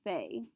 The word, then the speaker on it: fait: The entire first column is all pronounced fait. Je fais, tu fais, il fait, elle fait, on fait. The only difference is if we end in an S or a T.